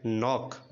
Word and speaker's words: knock: KNOCK నాక్ అంటే తట్టు కొట్టు అని అర్థం.